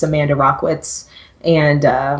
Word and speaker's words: Rachwitz: but uh it's Amanda rockitz and uh my last name is spelled r a c h Wii TZ so doesn't actually look like how it sounds but that's how you